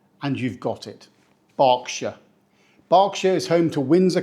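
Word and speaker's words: Berkshire: this one it's pronounced barkshire we do not say Burkshire or burshire or Burkshire the key here is to ignore the spelling just think of a dog barking and you've got it barkshire barkshire is home to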